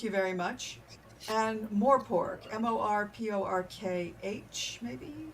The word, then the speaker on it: Morpork: And Morpork, Morporkh, maybe?